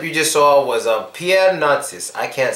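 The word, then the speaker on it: Pierre Narcisse: the video clip you just saw was a Pierre NIS I can't say his name for but it's Pierre naris he's a black guy who was very popular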